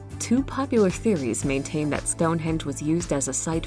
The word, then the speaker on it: Stonehenge: I said stun. Stonehenge. Stonehenge. But yeah, like I said in the last video, I would love to go there like around the summer solstice.